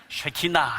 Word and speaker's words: 쉐키나: 키나라 합니다 쉐키나 예 발음 잘하셔야 됩니다 쉐키나 해야지 야 하면 큰일납니다 쉐키나 제가 최근에 특별히